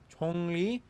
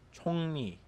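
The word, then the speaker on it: 정리: If any nasal character meets the letter ryul, then the ryul turns into a nian. This means that simli is pronounced simni, hanla is pronounced halla, chongli is pronounced chongni.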